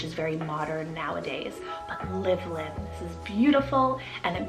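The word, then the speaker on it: Livlyn: Lord is exalted then I added the name livelin it's spelled l-i-v l-y-n livelin now this one I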